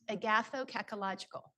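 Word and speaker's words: agathokakological: this word which is from the ancient Greek it's pronounced agathokological so agatho means of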